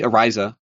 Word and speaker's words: Ariza: And I ended up with the Japanese way of saying it, which would be Ariza.